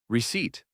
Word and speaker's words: receipt: The P is silent. You do not say the P. Receipt, not receipt.